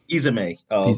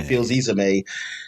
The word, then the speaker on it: Fils-Aimé: Izame. Reggie Fils-Aimé speaks on the next generation of the consoles, and that's, I guess, you're going to start talk about the Wii.